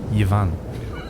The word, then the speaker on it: Ivan: Or as they say, Yvan. Is that what they say? They say Yvonne? Yvan, yeah, that's how they pronounce it.